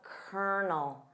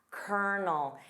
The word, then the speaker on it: Colonel: Of course, notice that pronunciation of Colonel. Colonel. It sounds nothing like the spelling.